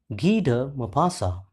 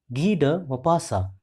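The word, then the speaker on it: Guy de Maupassant: the story the author of the story is G mapasa once again listen carefully the pronunciation of this author g mapasa g mapasa was born on 5th August 1850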